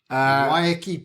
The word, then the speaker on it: Waiheke: I am going to see you on the 29th of November at Waiheke Beach. Waiheke Beach. 12 by 1 mile. How do you spell that?